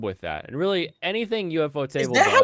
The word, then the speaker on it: Ufotable: Like it's too bad the story is so Yeah, UFO Table does such a good job with that. And really anything UFO Table does.